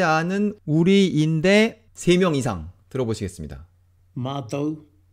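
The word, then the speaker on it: mātou: 마토, 마토, 마토.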